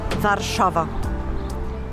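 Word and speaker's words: Warszawa: of the city how do you say the name of Warsaw in in Polish vava vava so different to Warsaw yeah vava oh you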